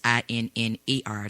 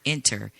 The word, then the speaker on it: Inner Views: Again, this has been interviews with, and that's INNER, not enter, interviews. So I had to spell that out so people would know I'm not pronouncing it wrong.